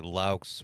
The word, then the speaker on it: Laux: Last name's actually Laux, which is where came from. People have been mispronouncing my last name since I was single digits age. I usually got or, so I figured